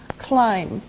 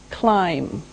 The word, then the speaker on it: climb: first verb is climb climb now it doesn't sound like it looks now if this letter B is silent climb okay we climb a